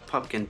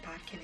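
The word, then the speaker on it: Pupkin: Rupert. Pumpkin, P-U-P-K-I-N. There's a man here by the name of Rupert Pumpkin. Mr. Podkin is here. Mr. Pipkin. Mr. Puffer. Pumpkin, yes.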